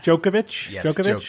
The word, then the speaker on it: Djokovic: guy's name Novak Djokovic Djokovic the D is silent a joke okay so